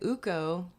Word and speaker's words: Ukko: Finnish folklore has it that Ukko, it's spelled U-K-K-O, so I'm assuming it's Ukko.